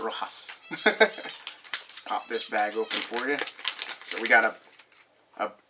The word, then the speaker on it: Rojas: not completely mispronounce words it's not Rojo's it's a Rojas so we got a